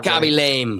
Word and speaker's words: Khaby Lame: is this really how you pronounce this guy's name when you say it? Yeah, Khaby lame.